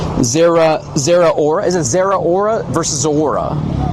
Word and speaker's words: Zeraora: Zeraora. Now we're talking. Now I know how to pronounce it. Zeraora.